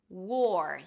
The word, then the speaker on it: war: Here you start with the W sound, then again we have the or as in four. War. Make sure you drop the tongue after the W so it doesn't sound like were, right?